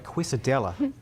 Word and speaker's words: quesadilla: So we're making a Mexican quesadilla. I keep wanting to call it a quesadilla because that's how it's spelled, but quesadilla is the way to say it properly.